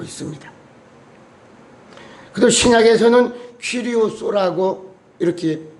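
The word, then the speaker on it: κύριος: 그리고 신약에서는 퀴리오스라고 이렇게 발음을 합니다.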